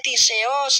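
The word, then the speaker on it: κτίσεως: nggak ada yang namanya tiseos, ciptaan. Gitu cara bacanya.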